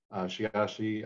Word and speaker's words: Sheyahshe: name is shiyashi shiashi i'm a member of the donation she is a caddo for little boy originally pronounced shiatsu and that was too hard to spell so you got shiashi so i'm a technologist